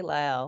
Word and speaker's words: Lael: And speaking of your daughter, Lael, did I pronounce that correctly? Lael. Yes, lay out.